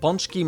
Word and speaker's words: pączki: So Polish donuts are called pączki and have recently become trendy in the Western world, where they are sometimes anglicized as pączki. Okay, so donut. Pączek. Pączek, okay. Pączki must be the plural.